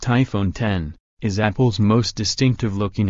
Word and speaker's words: iPhone X: they compare iPhone next the iPhone X pronounced iPhone 10 is Apple's most distinctive